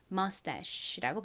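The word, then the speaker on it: mustache: 주로 CH가 쉬 소리가 나는 경우는 어떤 경우라고요? 그 단어의 어원이 프랑스어에서 유래된 경우 CH는 주로 소리가 납니다. 자, 그리고 끝에이는 헛깨비로 소리가 나지 않습니다. 그래서이 단어는 mus라고 발음합니다.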